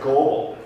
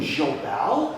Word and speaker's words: Goebel: You know, and it was like that was how people pronounce Goebel, and I'm like, you mean the German brewery Goebel? You know, with a French pronunciation?